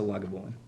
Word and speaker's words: Lagavulin: of the mill um the welsh actually the welsh welsh pronunciation is actually closest to lagavulin oh okay um but